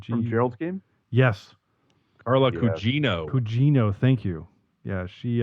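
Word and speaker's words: Gugino: that um i'm just doing some sewing carla guinoa i can't pronounce her last name from gerald's game yes carla cugino pougino thank you yeah she uh i don't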